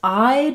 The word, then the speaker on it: I'd: This I'd is pronounced the same as this word I'd, like I eyed it, which is basically just the I diphthong and the D sound.